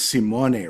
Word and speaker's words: Simone: It's Simone, right? That's the right pronunciation.